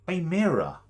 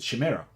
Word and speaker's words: Chimera: playing like Warhammer uh me and my brother and my friends pronce Shima because it would totally make sense as pronunciation of it if you didn't know that uh so we said Shamira and then I want